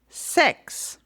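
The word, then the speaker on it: sechs: It's uh f six is sex. Yeah, it's really like that.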